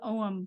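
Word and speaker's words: Ogham: so here is the OM script and the g is silent so it's own it's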